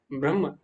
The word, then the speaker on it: ब्रह्म: कैसे करना है देखो जैसे हा और मा में तो जो आपका हम बना है ब्रह्म तो उसम हा पहले आ रहा है मा बाद में तो हा का उच्चारण पहले होगा मा का बाद में ब्रह्म लेकिन कंफ्यूज क आता